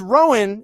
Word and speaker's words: Rohan: game is because uh Rohan is a fan uh pronounced Rowan in my family but it's a family